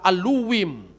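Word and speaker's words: אלהים: Elohim huruf H-nya hilang. Bukan Bereshit bara Elohim tapi Barasit bara Aluwim. Jadi huruf H-nya dibaca W.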